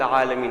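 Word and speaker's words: العالمين: Now the arrow is meant to be for the Ayn. Alameen. Now the pronunciation of Ayn, again, we need to differentiate with the Alif. Alhamdulillahi Rabbil Alameen. That Alif is different to this Ayn, Alameen.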